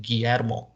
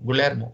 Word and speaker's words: Guillermo: said you know what my name is pronounced guillermo um and then when